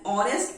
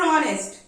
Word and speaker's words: honest: Is an honest person? Here, H is a consonant, but we are using and before honest. Again, because of sound. In the word honest, H is silent.